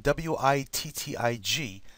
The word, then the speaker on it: Wittig: It's spelt Wittig, W-I-T-T-I-G, but it's pronounced Wittig, as if it was a V, okay?